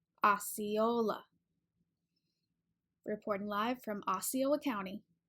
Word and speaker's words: Osceola: at the end and we usually stress that third syllable Osceola Osceola reporting live from Osceola